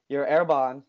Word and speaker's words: Arbonne: So let's touch upon your Arbonne, right? That's how you say it, Arbonne, yep.